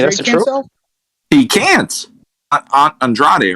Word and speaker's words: Andrade: The correct way to say it is Andrade. The correct way, like they would say it amongst the Portuguese, would be Andrade.